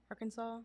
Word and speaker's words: Arkansas: Arkansas.